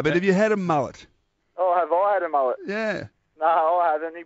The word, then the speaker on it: Mullett: few different names what what is the correct pronunciation um right a mullet so what's your nickname